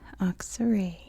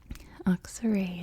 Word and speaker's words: Aksaray: That's just how it's spoken, or that's how it's pronounced in English, in American English. Aksaray, as you can see,